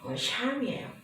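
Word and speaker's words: Psalms: 제목은요, 본서의 명칭은 영어로는 샴이에요. 앞에 P자가 붙는데 P는 묵음으로 처리되고요.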